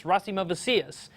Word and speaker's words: Rasimavicius: His first name is Rasimavicius. That's Rasimavicius.